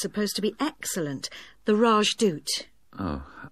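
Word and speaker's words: Rajdoot: in weatherfield is supposed to be excellent the rajdut oh how do you spell that r a j d o o t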